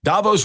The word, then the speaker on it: Davos: Davos rhymes with Thanos, guys, like the Marvel movies.